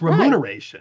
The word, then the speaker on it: remuneration: No, but you put an N there. You said remuneration. You switched the M and the N. It's remuneration.